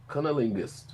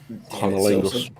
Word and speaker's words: cunnilingus: Just think cunning linguist. Just think like that. You said too many syllables right now. I'm sober. Tired, but sober. Cunnilingus. Shit, now I can't say it. Cunnilingus.